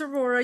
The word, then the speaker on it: Aurora: Okay, so yes, my name is Aurora. You pronounced it correctly.